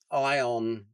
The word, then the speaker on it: Aion: Would you recommend the Aion Sorry, I've got to learn to say it properly. Iion YouTube fault. They put an A in it, Roscoe.